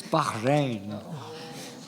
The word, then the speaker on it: Bahrain: waits no subri no it's Bahrain but two syllables was right you were onto it